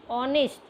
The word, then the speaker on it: honest: So here also the H is silent. So we are reading honest.